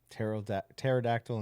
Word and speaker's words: pterodactyl: Pterodactyl in the bathroom. Silent P.